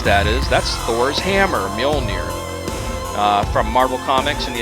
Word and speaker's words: Mjolnir: The campaign is the Mjolnir response, and the only reason I know how to pronounce that is that's Thor's hammer, Mjolnir.